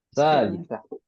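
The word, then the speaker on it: ثالثة: Mata mata tadhabu ila masjid adhabu saata salisa Salisah. salisa. Nah, ya. Jadi memang pengucapan seperti itu ya. Panjang di awal. Seperti fa'il.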